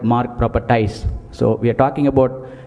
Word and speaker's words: MARG ProperTies: talk about our brand, we normally pronounce it as MARG ProperTies, and we don't pronounce it as MARG ProperTies, because we just don't sell properties, we just don't sell land, but we sell emotions with our customers. That's why we call our brand, whenever we pronounce, we call it MARG ProperTies.